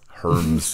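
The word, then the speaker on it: Hermès: Hermes.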